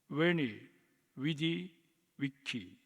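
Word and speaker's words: veni, vidi, vici: 현대 라틴어 발음은 조금 다릅니다만는 고데라틴어 발음대로 어 읽으면 웨니 위디 위키 입니다.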